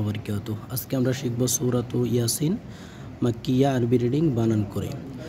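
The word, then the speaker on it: يس: ইয়ার উপরে খারা জবর এক আলিফ মাদ হবে। ইয়াসিন, এর উপরে খারা জবর এক আলিফ মাদ, ঠিক আছে। আর সিনের উপর আমরা কি করব, চার আলিফ পরিমাণ টেনে পড়ব।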